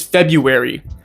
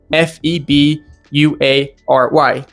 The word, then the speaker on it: February: Feb- u- ary. Once again, that is how it is officially pronounced. However, you will probably hear it said like February, February. Wary. Like, you will hear it like with the r being a w instead, February.